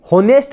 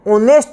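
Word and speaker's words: honest: ही इज ऑनेस्ट, हम pronunciation की बात करेंगे, ऑनेस्ट आ रहा है, ऑनेस्ट, होनेस्ट नहीं होता है, ऑनेस्ट होता है।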